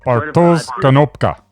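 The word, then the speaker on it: Bartosz Konopka: I'm going to pronounce his name badly, I'm sure. Bartosz Kanapka. This genre-bending historical epic. Bartosz Kanopka.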